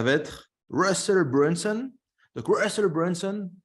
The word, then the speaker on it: Russell Brunson: Donc, Russell Brunson, je prononce à l'américaine, c'est un entrepreneur américain qui est spécialisé dans les tunnels de vente.